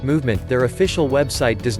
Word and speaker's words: MVMT: Even though the brand is pronounced Movement, their official website does not actually boast about the movement of their watches.